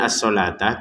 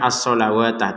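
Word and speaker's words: الصلاة: Wa aqimusata waatuzak waatuz zakah waatu dua harakat kalau berhenti kalau digabungkan waatuzzak azzakata kedudukannya sama dengan asalatah ini tulisannya seakan-akan asalawatah tapi kita banyak asalata karena wau ini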